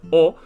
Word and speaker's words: を: ha and similarly the particle war although it's pronounced as o it's actually written as war as in w-o